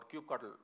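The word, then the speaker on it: kubectl: essentially you have coops ETL with you or cue cuddle whichever way you like to pronounce it that is - so if I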